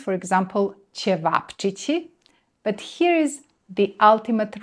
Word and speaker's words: ćevapčići: have roštilj Roštilj is meat-loaded feast that has ćevapčići as the stars of every roštilj-filled plate.